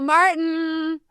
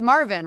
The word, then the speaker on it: Marvin: Open your ears for Michelangelo Cavino and Martin. Hey y'all. Welcome in. You got my last name wrong.